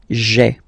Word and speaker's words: j'ai: take this away, okay, so that you get this sound j'ai, j'ai. Okay, so j apostrophe ai. Remember, when you combine this ai, you get the e sound.